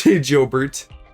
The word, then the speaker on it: Jobert: That's what he wishes people would pronounce his name, but it is Jobert.